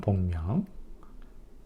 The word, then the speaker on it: 복명: 태양의 움직임으로 봤을 때음 그래서 한 번 더 말씀드리면 화의 태관은 협기 화의 불은 복명 화의 평균는 승명이라고 읽습니다.